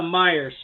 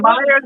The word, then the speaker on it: Meijer: Yeah, got it at the Myers store that we have here. How fitting, but it's spelled differently. Yes, Meijer. Oh, you got Myers in Illinois?